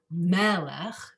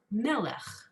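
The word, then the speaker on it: מֶלֶךְ: So melech, you put the emphasis, it's not melech, it's melech.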